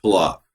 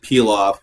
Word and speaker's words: pilaf: art ones that is it's pronounced palak yes you can pronounce it peel off if you want I'm going to call it pillock but you know doesn't really matter how you pronounced as long as you